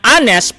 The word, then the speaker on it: honest: honor okay an hour which is also in silent letter H that's why we say an honest person and not a honest person all right this question